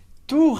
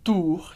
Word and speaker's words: tour: frente da Torre agora atenção com a pronúncia de tour FR então primeiro a gente tem a Tour que é a torre Repete comigo Tour e muita gente pergunta Felipe Como que essa pronúncia do R parece difícil e é diferente Claro mas ajuda muito se